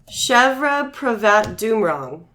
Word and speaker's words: Chevapravatdumrong: Oh, and trivia, it says her surname is pronounced Chevra Pravat Doomrong.